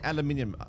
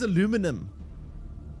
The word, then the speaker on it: aluminium: What do you mean aluminium? What is aluminum? aluminum. You guys and your American pronunciation for everything.